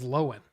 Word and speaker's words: Lohan: and that's apparently how you say it is lowen which I've been mispronouncing it for years but hey yeah bucho